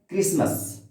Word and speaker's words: क्रिसमस: क्या है कि इसमें क्रिसमस बोले हैं, टी का कहीं अर्थ ही नहीं निकला है, टी का उच्चारण ही कहीं नहीं हुआ है।